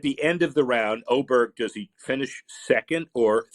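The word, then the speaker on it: Åberg: name to o or does he change his pronunciation to aberer because you can't have both I don't care where he's from you can't call him oberg and have an A on the word but that's the most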